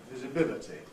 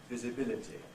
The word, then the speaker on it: visibility: so on but notice also in words like visibility now there is an a now rather oldfashioned pronunciation which I transcribed there with a line through it which would be visibility visibility uh well now we gen generally have this